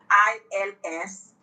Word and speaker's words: ils: So the group of men is ILS, pronounced as il.